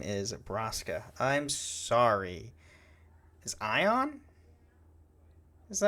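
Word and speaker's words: Braska: Cuz you said Brasa's name wrong. Did I? What' I say? You said Bracka.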